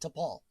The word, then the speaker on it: T'Pol: T'Pol is apostrophe P-O-L, T'Pol. Yes, I know how they spell it because I'm a dork.